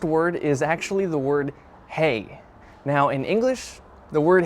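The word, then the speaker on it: hej: But in Slovak, the word hey, it's spelled differently. So instead of H-E-Y, it's H-E-J.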